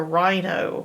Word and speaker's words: rhino: get close to a rhino or a rhinoceros. So rhinoceros has also a silent H in it. Rhino. We hear the R. What we don't hear is the silent H next to the R.